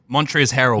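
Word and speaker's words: Montrezl Harrell: Montrez Harrel.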